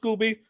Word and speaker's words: Scoby: his nickname is scooby his last name is pronounced scooby he's an old school